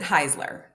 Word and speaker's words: Heisler: cooler Wednesday and with Rifka Heisler is it Heisler Heisler you know I pronounce it Heisler Heisler yeah Heisler see this is the type